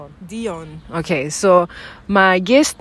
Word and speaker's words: Dion: So short and sweet, my guest name is Dijon. I always keep pronouncing it wrong, but it's correct, right? No J. Dion.